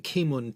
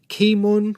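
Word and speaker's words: Keemun: the china domestic market kimon or k moon was cantonese for chiman a city in anhui province near the gorgeous granite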